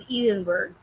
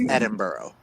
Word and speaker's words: Edinburgh: I've always thought it was pronounced as Edenberg. No, you're you're pronouncing it with an English pronunciation when it's a Scottish pronunciation. Oh, gotcha. So, it's Edinburgh.